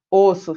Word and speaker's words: osso: Ovo, fechado, ovos, aberto. Osso, fechado, ossos, aberto.